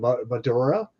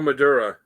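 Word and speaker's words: Madureira: And the cover penciler was, I can't pronounce that last name, Maduria? Oh, it's Joe Madura. Madura.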